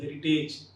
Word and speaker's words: heritage: That is courage and heritage. Often we pronounce these two terms like courage and heritage.